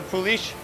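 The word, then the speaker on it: poolish: That's fermented, it's called, it's spelled poulish. But it's pronounced like a poulish.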